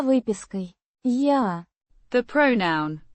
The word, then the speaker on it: Я: Я. The pronoun I. or Am. pronounced Я. like the ya in yard, but with a slightly softer a sound.